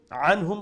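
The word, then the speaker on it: عنهم: রাদিয়াল্লাহু আনহুম, anhum, make sure you pronounce the ain from the middle of the throat, and noons will be pronounced with izhar, with clarity, because of the throat letter is appearing after the noon sakin.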